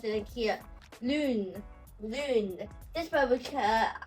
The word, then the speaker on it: lune: So, if I erase here as well, in the vowel strategy, we have e French lune. Lune, which is rounded position.